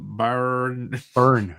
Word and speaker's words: Byrne: Burn, yeah.